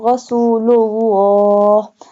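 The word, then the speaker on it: رسول الله: إِلَّا اللَّهُ Muhammadur Rasulullah, this one lam will be bold because here is a standing fatha is on the lam.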